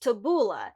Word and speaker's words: tabbouleh: onions and parsley the boolean Arabic is actually pronounced tabouleh it originated from Lebanon and Syria it's not